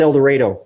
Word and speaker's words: El Dorado: Pronounced El Dorado when you're in Arkansas. Rhymes with tornado.